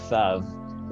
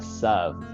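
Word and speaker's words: ת: And this actually why we've talked about this before, but in the traditional Ashkenazi pronunciation of thav is a sav, because in Eastern European languages there is no tha sound.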